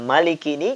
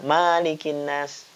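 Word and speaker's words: مَلِكِ: memberikan pengajaran Tahsin ya Jadi kata Malik ini kita baca pendek Maliki yang artinya adalah raja Kenapa kau tidak dibaca manekin as karena sebagian masyarakat kadang membaca malikinnas tidak jadi tidak membacanya memiliki panjang tetapi Maliki pendek Raja ini biasa digunakan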